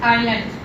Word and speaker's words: island: This is island. This spells island. S is silent here.